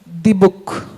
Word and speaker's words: Dybbuk: I hope I'm pronouncing it right again. It's the book. Is that correct? Right, the book.